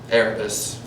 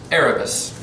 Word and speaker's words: Erebus: Erebus, that's how it's pronounced, Erebus.